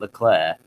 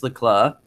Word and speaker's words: Leclerc: I would also say he also pronounces Leclerc wrong as well. I have absolutely no idea. He's the only commentator that pronounces it Leclerc. Leclerc. Why does he do that? I have absolutely no idea. Charles Leclerc says it's Leclerc.